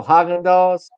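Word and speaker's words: Häagen-Dazs: Oh, Haagen-Dazs. That's the actual pronunciation.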